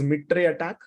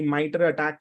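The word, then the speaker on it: MITRE ATT&CK: miter attack framework okay many people call it as Mitra attack but the actual pronunciation is called as the miter attack framework or the miter attack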